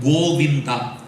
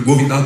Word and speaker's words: Govinda: Bhagavan's name Goinda it has three syllables in Sanskrit goinda three syllables in English spelling different